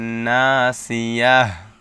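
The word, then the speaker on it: ناصية: তা জের তিয়া তিন অকফের পূর্বে বা স্টপ চিহ্নের পূর্বে গোলতা আসছে গোলতা থাকলে গোল তাকে হা উচ্চারণ করতে হবে ওকফের পূর্বে যেহেতু গোলতা আসছে সেহেতু গোল তাকে হা উচ্চারণ করতে হবে এবং অকফের পূর্বের হরফের উপর একটা সাকিন দিয়ে পড়তে হবে সেই ক্ষেত্রে ইয়া হা জবর ইয়াহ এরকম উচ্চারণটা আসে লানাসফাম বিন নাসিয়াহ র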